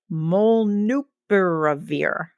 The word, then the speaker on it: molnupiravir: This medication is called, let me see if I can say it, molnupiravir. That's a really awkward name. That's like 8 syllables.